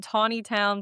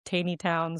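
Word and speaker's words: Taneytown: It's difficult in Tawny Town. Some people say Tiny Town.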